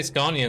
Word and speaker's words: Scania: I'd say Scania the way it's pronounced in Swedish. I think most people say Scania. But I'd say the right pronunciation because it is a Swedish brand. But I guess the right pronunciation is relative to the country. But in Sweden, it's pronounced Scania.